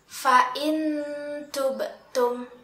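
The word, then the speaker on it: فإن تبتم: Nah, di sini ada nun sukun yang bertemu dengan huruf ta. Kita membacanya dengan nun sukun itu masih terdengar suaranya, tetapi disertai dengan samaran makhraj huruf ta.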